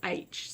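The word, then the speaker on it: Aech: the CAE CH and it was never described in the book as being pronounced as H so I did I'll confess I did read it as Ike so if I occasionally slip into Ike instead of H I do apologize but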